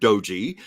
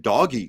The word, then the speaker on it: DOGE: Doge, I think, is the correct pronunciation, though I have heard Doji. Some were even saying doggy for a while.